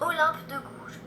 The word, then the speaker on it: Olympe de Gouges: So let's listen to how it's pronounced. Olympe de Gouges.